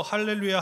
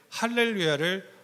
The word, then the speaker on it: 할렐루야: 도와주세요라고 의미하는 것이 맞아요 거기 제가 보면 첫 리을 약하게 이렇게 했어요 왜냐하면 성가대원들은 제가 예측할 때 할렐루야를 할렐루야라고 발음하기가 쉬워요 할렐루야 그래서 첫 리을 빼면 할렐루야가 돼요 자 저 저 보세요 저 보셔도 돼요 할렐루야 아니고 할렐루야 제가 첫 번째 리을 어떻게 했어요 약화시켰어요 이것을 그 독일어에서 모음